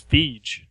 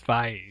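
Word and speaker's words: Feige: pronounce his name I always thought it was feij when I hear it pronounced it's F so okay I've never heard I guess I've never heard and that actually sounds like a name as opposed to feed I always thought it was Kevin feed go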